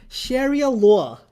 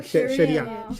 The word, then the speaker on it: Sharia: He said he pronounced things in the most fascinating ways. He said things like Sheria. What? It's so fascinating. Sharia Sheria like a New York accent with his Yep.